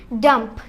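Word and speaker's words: dumb: ইউ বিটি ডাউট হ্যাঁ তারপর ডি ইউ এমবি ডাম্প ডাম ডাম্পও হবে না বিয়া টা উচ্চারণ হবে না তাহলে ডি ইউ এমবি ডাম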